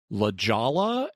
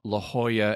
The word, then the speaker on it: La Jolla: Sometimes they'll look at the name of towns here in the San Diego area, and it's La Jolla and El Cajon. It's like, no, La Jolla and El Cajon.